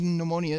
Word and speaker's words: pneumonia: side so what's up the p is pneumonia is silent like luke's cardio game